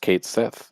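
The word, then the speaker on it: Cait Sith: and Kate Sith which we now know is pronounced Kate Sith most anticipated for 2024 I want to say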